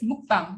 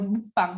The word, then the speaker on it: mukbang: global users realize, well, what I hear is mukbang, not mukbang. So they registered mukbang, and they pronounce the word mukbang rather than mukbang, and use it in a